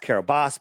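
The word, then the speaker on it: Kiribati: uh it was registered to the nation of kabati right pronounced Carabas but it's spelled kabati and I looked it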